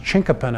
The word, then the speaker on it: chinkapin: to our urban forest in fort collins it's pronounced chinkapin oak and it's a little bit difficult to